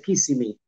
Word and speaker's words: Kissimmee: Juanmi, se dice Kissimmee, que se lee en español, pero bueno, que vayas practicando la pronunciación.